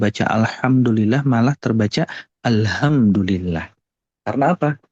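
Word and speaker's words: الحمد لله: ada makna yang nantinya akan berubah contoh misalnya alhamdulillah kira-kira di sini ada engak Bapak Ibu yang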